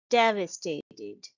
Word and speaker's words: devastated: miserable for weeks devastated it's a four syllable word and the stress is on the first syllable shown by the arrow here devastated and the second syllable is shound de de devastated you don't say devastated or devastated it's devastated he was devastated when